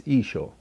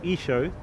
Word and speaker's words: Isho: how it's pronounced it's isho thank you very much for watching so clearly from what we see so in as i said from the scholar so in the eastern aramaic it was pronounced isho western cereal it was